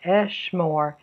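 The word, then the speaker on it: אֶשְׁמֹר: So in the pa'al, the future tense, I will guard, eshmor, has two syllables. Here, for the imperfect, I will speak, it's adaber. There are three syllables.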